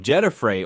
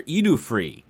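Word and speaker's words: Djedefre: bearing the name of Jedafrey or Edufrey. You could say it like that, too.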